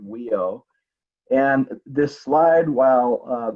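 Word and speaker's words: WHIO: wisconsin health information organization we pronounce the acronym we owe and this slide while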